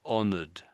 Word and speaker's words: honored: you're saying it, but most most people would say that as a duh on the end, I think. So, if I I'll say it again a couple of times. And listen, am I am I saying a duh or a T? I think it's a duh. Let's listen. So, honored. Honored. Honored. Yeah, it's definitely a D.